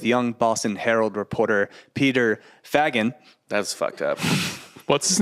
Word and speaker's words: Fagan: Like Faygan. Yeah, would be- Fagan. There is no Y.